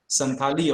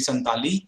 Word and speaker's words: Santali: which is working on santhali also we pronounce santhali but the word should be santali so ntm also works